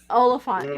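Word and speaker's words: Olyphant: Oliphant. Yeah. Oliphant. Yeah, because I always said his name wrong.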